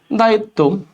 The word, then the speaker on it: দায়িত্ব: তর সাথে শেষে বফলা বফলা যদি শব্দের শেষে থাকে বফলা উচ্চারণ না হয়ে যে বর্ণের সাথে আছে ওটা দ্বিবার উচ্চারণ হবে তাহলে ভাইয়া দেখো একটা ত দিলাম একটা ত করতে দিলাম দায়িত্ব এরপর দেখো ধন্যবাদ তাহলে